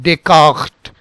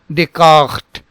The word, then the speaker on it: Descartes: So now, so both the S are silent. So how do we pronounce this? This is Runi, Runi, and then Descartes, Descartes, Runi, Descartes.